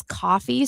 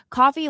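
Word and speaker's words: Ko-fi: The only one I wasn't able to put for Cecil was his coffee.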